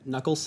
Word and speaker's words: knuckles: Identify each of the following words or phrases that contain a silent K when pronounced.